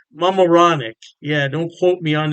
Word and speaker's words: Mamaroneck: Halftime Beer has two locations in New York State, Poughkeepsie, and I believe it's pronounced Mamaroneck. Mamaroneck.